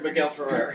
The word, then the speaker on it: Miguel Ferrer: That's how you pronounce his last name? Miguel Ferrer? Yeah, Miguel Ferrer, yeah.